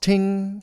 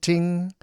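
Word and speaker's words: 听: In Chinese, it's pronounced ting, first tone, ting.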